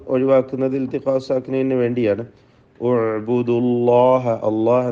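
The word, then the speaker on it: الله: അല്ലാഹ് എന്ന ഇസ്മുൽ ജലാലയിൽ ലാമിന് തഫ്ഖീമാണ്. തടിപ്പിച്ച് പറയാം.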